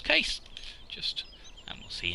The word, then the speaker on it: Case: Looking around the internet, I believe that could be pronounced Cassie, in the same way that the popular brand of prams could be pronounced Hannah. But because I call those Jane, to generally annoy people who call them Hannah, I'm going to refer to this as Case.